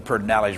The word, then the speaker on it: Pedernales: But one of the callers, and that's the Pedernales River, which by the way doesn't have an R in it there, but that's the way you pronounce it, talked about Lyndon Johnson being ruthless but successful.